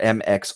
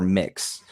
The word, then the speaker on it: MX: right, the official pronunciation is either MX or Mix.